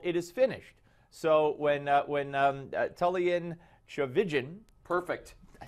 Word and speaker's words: Tullian Tchividjian: So when Tullian Tchividjian, perfect.